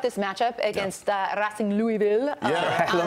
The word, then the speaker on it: Louisville: If you say the way they say Louisville in Louisville is Louisville. Louisville. But right. I like, Louisville. All, I like adding Louisville. That it's Racing. It's all one syllable.